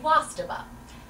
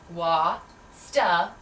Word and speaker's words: Wastaba: My name is Wastaba. W-A-S-T-B-A. That's pronounced wa-sta-ba. Wastaba. Think of wa as in water. Splash, splash. Sta as in stability. And ba as in ba-dum, as in bum-to-bum-bum.